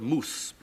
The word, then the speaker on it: mouse: but um if you take a word like Mouse m o u s e we do know that the Anglo-Saxons pronounce that word moose because of the way they they spelled it m s and in Scott they still say moose and H and so